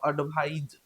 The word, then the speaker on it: advise: तो इसका प्रोनाउंसिएशन जो करते हैं इसको हम लोग बोलते हैं स एडवाइस और इसको हम लोग बोलते हैं ज एडवाइज।